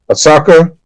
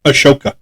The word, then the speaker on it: Ahsoka: Uh, uh, Assaka. Ashoka.